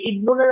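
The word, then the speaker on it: ابن: কিন্তু হামজাতুল ওয়াসলি এর শুরুতে যদি কিছু না থাকে, যেমন এই যে এখানে ইবনুনের শুরুতে কিছুই নাই, তাই না? হামজার আগে কিছু হ্যাঁ, নেই, তখন আমরা হামজাটা উচ্চারণ করব।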